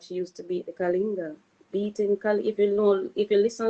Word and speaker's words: Kalinga: Kalinga Records, yes.